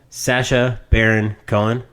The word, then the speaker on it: Sacha Baron Cohen: Sacha Baron Cohen. How do you say his fucking name? You got it. Yeah. Sacha Baron Cohen.